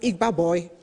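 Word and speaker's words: Igba Boi: nigerian entrepreneurship scheme and i think it's pronounced igba boy and if you're a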